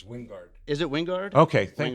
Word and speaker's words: Wingard: It's Wingard.